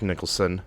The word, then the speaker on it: Nicholson: Nicholson hold on I gotta see how you pronounce that goofy goofy me yeah okay it's Jack Nicholson so he betrayed the Joker kind of like